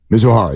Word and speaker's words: Mizuhara: His interpreter, Mizuhara, is that how you say it? Mizuhara, yes.